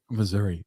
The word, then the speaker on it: Missouri: Missouri.